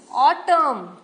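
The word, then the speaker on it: autumn: य should could उड नाउ इसमें एन साइलेंट है हिम ऑटम कॉलम पटन है तो आप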